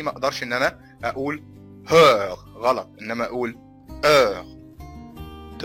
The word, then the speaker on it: heure: de 13 heures طيب ملحوظة ان حرف الاش زي ما قلنا قبل كده لا ينطق في اي كلمة فرنسية. يعني بالتالي ما اقدرش ان انا اقول heure غلط انما اقول heure de 13 heures 57.